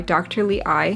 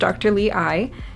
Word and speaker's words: DTLEYE: colored contacts and this video is sponsored by dr lee i the company it's spelled d t l i but it's pronounced dr lee i so they actually were kind enough to reach